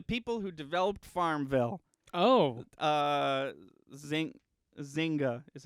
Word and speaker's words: Zynga: Zynga is how you say that.